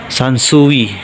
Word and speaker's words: Sansui: 200 Wat 50,000 din sansui Ayan sansui sansu s sansu ba yan sansu yan siguro yung tamang pagpronounce sansu tama ba mga load s 220 vol